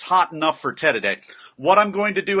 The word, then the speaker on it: tereré: particularly Paraguayan today and it's spelled ter e re with the accent in there I don't know espanol very much but it's pronounced Ted a day and here it is